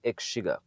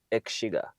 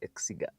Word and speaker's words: Exiga: in a 2008 Subaru X sugar and now that is how it's pronounced egg sugar uh in our common language we usually say exiga but its actual name if you go to Japan it's called the Subaru